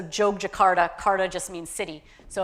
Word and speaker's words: Yogyakarta: Y's are pronounced ja, so Jogjakarta.